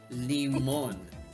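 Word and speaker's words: limón: It's lemon, but instead of like lemon, limon.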